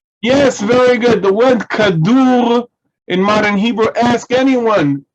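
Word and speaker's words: כדור: Okay, with a kaf, daled, vav, resh, kadur.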